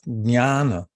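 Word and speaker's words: ज्ञान: It's spelled, it looks like an N, but it's actually pronounced with a squiggle over it, nya, nya. So it's jnana.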